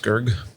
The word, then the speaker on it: Skurge: I believe it's pronounced Skurge.